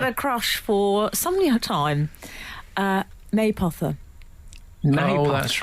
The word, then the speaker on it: Mapother: It's spelt Mapother, but it's pronounced Maypother.